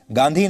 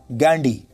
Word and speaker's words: Ghandhy: Spelling हो गई GHANDHY, जिसे हम कहेंगे गांधी नहीं, ये कहा जाएगा गांडी, और ये एक पारसी सरनेम है।